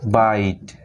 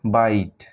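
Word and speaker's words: bite: টি মানে হলো ট, আর ইটার এখানে উচ্চারণ নাই, এখানে সাইলেন্ট। আর সাইলেন্ট লেটারের ভিডিও যখন দেব তখন তোমাদের এটা ক্লিয়ার হয়ে যাবে। তো কি হলো বিআইটিই বাইট মানে কামড়ানো।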